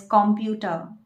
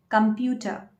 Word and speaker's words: computer: I know many people pronounce it as computer, but that is not the correct pronunciation. You should say computer. Computer.